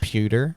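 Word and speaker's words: Powter: a bad day uh daniel pewter it's like pewter powder but it's if it's powder it's spelled weird yeah it's got like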